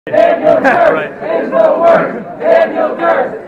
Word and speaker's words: Duerst: Daniel Durst is the worst. Daniel Durst is the worst. How do you say that? D-U-E-R-S-T. Remember, Durst is the worst.